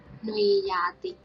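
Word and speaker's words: နွေရာသီ: So here is alphabet na and the symbol wa, so we pronounce noa. And the second symbol is a, so we pronounce nui. And second one is alphabet ya and a symbol, so we pronounce ya. And the last one is ta alphabet and e, so we pronounce ti.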